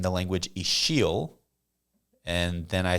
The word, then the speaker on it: Ixil: And even when Dom was saying the language Ixil, and then I said that it was spelled with an X, people might be like, what the heck?